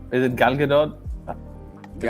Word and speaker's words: Gal Gadot: How do you pronounce Wonder Woman's name? Is it Gal Gadot?